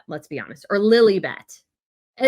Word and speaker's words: Lilibet: let's be honest, or Lilibet. And it's so dumb. They named her after quote unquote the queen, but they don't pronounce it that way. It's Lilibet because they want to call her Lily.